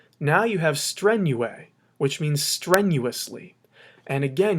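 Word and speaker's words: strenue: what we do is drop the us ending and add a long e now you have strenuae which means strenuously and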